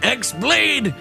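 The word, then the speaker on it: χ-blade: yeah he means the x-blade it's just pronounced like keyblade even though it's just one keyblade ah the series is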